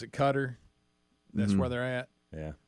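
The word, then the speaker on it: Qatar: talking about the World Cup yeah don't you pronounce it cutter that's where they're at yeah but Budweiser was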